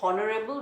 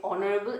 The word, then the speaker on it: honorable: So note that we use an and before honorable because depends upon the sound. Okay, we don't say honorable, we say honorable, h is silent, so we use article